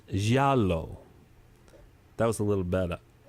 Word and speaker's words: giallo: And so people identify them in the United States, and they call them giallo movies. But the word they're using means yellow, so it's pronounced giallo.